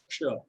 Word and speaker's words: क्ष: तो ये ध्वनि क और षटकोण वाले श से मिलके बनी है क्ष।